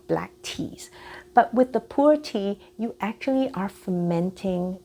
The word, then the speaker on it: pu'er: Now, my favorite tea is something called pu'er tea, and that's spelled Pu-hyphen-er, pu'er tea.